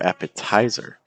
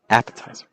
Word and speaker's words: appetizer: If you would say these as elevator or calculator or appetizer, that's not necessarily the most natural pronunciation for these compared to elevator. See the stress on L, elevator, or calculator. See the stress on calculator, or appetizer, appetizer. So you don't want to